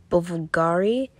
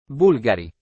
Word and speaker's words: Bulgari: it is made by Italian brand buffugari I think that's how you say it Bulgari uh I said that terribly wrong anyway this is what